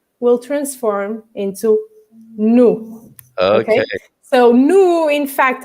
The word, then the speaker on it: no: And it's nu rather than no, because you would be mind possibly to pronounce it as no, because if you know that from English.